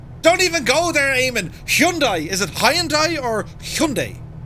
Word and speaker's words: Hyundai: And then, you know, a few of the other lads, the Koreans, don't they make Hyundai? Or Hyundai? Hyundai, according to the commercials.